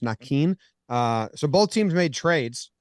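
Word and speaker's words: Naquin: Tyler Nakin says it's supposed to be pronounced Nakin.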